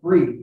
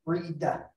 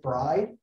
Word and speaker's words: Bried: I'll tell you, my last name is pronounced Bried, B-R-I-E as an elephant, D as a dog, right? Sounds like Brie cheese, but with a D at the end, right? Bried.